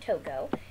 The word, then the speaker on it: Togo: the country of togo it kind of looks like tugo but you actually pronounce it togo and you can see